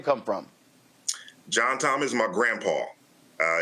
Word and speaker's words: John Tom: Uh they were southern from Mississippi, so they pronounced it Joan Tone.